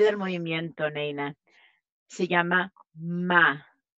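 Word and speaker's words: 間: Entonces hay una palabra especial llamada ma. Que se pronuncia MA y MA es un intervalo en el tiempo o en el espacio.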